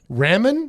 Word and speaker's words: ramen: R It's pronunciation is like r a h m e n. That's what it's supposed to I've eaten plenty of those when I was in college.